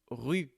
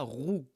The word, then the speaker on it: rue: Ici le U de rue, on dit rue, on ne dit pas rou.